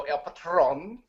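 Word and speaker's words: El Patrón: patron not alone Rio I believe the pronunciation is Alberto el patron yep a problem Yeah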